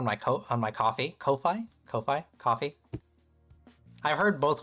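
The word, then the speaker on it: Ko-fi: I always say it like coffee. That's how I thought it was because when you log in, it's like, "Oh, buy him a coffee." Like a play on words, you know?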